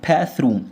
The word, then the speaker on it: bathroom: bathroom التي اتش طلع فيها لسانك بنطقها ده حرف الثاء.